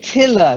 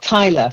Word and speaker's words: tiller: Okay, then tiller, not tiler. Tiler is somebody who puts tiles on the floor, and the tiller is part of the ship that helps to steer it.